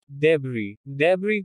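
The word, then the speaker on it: debris: डेब्री मलबा। T is silent in certain words.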